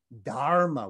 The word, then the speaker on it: dharma: but now we see the sanskrit pronunciation dharma with that hard r and next to that